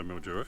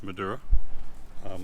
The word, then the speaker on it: Madura: so if I did so Mildura it's not it's Madeira or mature depending on how you pronounce it uh so we're